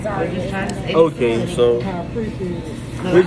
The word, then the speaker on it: Zaria: Let me spell it for you. Yeah. Z-A-R-I-A.